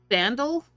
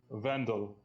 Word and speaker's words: Vendel: Vandal? Vendel. Vendel. Vendel. Wendell, but pronounced with a B. Okay. So what, A German or Polish accent.